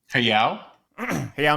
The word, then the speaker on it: Hayao: I always mispronounce his first name. Miyazaki. Hayao? Hayao Miyazaki.